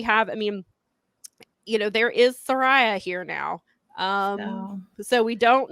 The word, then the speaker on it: Saraya: Well, that's she did the way And so, but I always thought it was Saraya. And so now I'm having to break myself of that habit of call her Saraya, because it is the correct way.